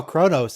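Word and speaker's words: Qo'noS: t and s yeah somehow chronos is pronounced with an r even though it's q o hey they all eat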